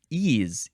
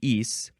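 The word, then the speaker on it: -ese: Ease, E-S-E, or it could be ease. I think usually it's ease.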